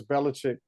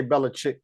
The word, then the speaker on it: Belichick: that that Brady versus Belichick conversation I like to say Bella chick because it's spelled chick everybody says check but I like to say chick anyway they're one and